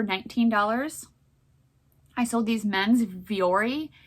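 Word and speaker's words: Vuori: i sold these men's viori u o r v-o-v-u-o-r meta performance pants that's how you say it um these sold for 50.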